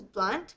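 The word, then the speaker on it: Blount: whom can hear Mrs I think this is blunt but it's spelled b l o u n t I'm going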